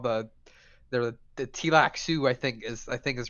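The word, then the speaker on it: Tleilaxu: So Duncan Idaho gets kidnapped by these guys called the Tilak Sioux, I think is the pronunciation of it, and they turn him into a They turn him into a Gola.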